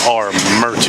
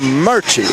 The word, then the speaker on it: Armuchee: I was informed earlier even though it is spelled arui if you are from arui you call it or merch or Mery or merch what do